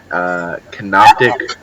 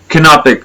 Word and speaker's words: canopic: your like clay like cannot dick that's not the right way to pronounce that organ jar what's that called Copic I think Oh canopic canopic jars inside the jar yeah